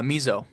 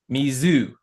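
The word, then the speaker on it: 水: Uh miso. Try it again. Miso. Misu. No. Mizu. Mizu.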